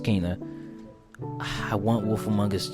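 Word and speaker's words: Kena: um Kaa BR spirit I thought it was pronounced Kenna so it's pronounced Kaa I want wolf amongus 2 to come out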